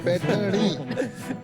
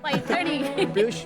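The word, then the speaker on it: पैठणी: सलोनी, पैठनी, वो जरा प्रोनाउंसिएशन इनका चेक कर दीजिए. पैठनी। पैठनी।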